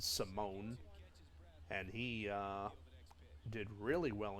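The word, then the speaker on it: Simón: Then after around 2010, it was Alfredo Simone, or Simon, but they pronounce it Simone.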